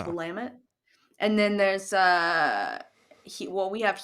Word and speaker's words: Willamette: Well, a lot of people say Willamette in Washington. They say Willamette. People like to say Willamette, but it's Willamette.